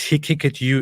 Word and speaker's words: Haqiqatjou: believe you Dove blackfell pronounced he kick at you is it's all in